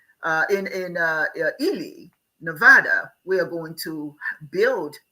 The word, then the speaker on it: Nevada: um when we picked El Nevada Nevada that's how they pronounce it there Nevada um it had the